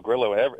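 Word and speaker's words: Carrillo: Does it have a You know, in in Southern California here, if you put two L's together, they're silent. When I first came out here, I said, "My name is Leo Grill."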